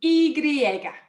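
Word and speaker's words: y griega: um is the the letter is called an igriega an igriega i know it's strange um but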